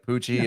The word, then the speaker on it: Poochie: It's Poochie. It is? Yeah. So I'm saying it right. Like Poochie, as in like he's got a pooch.